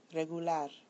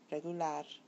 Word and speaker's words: regular: The following words follow rule number 2. So listen carefully. Español, regular, mayor, amor. When you listen to them, you'll find that the bolded syllable is the one that receives the stress.